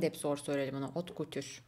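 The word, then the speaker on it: haute couture: Hot couture. Hot couture diyorlarmış. Yani hep hat katır, hat katır deniyor şeyiyle ama aslında yanlış bir telaffuz oluyor.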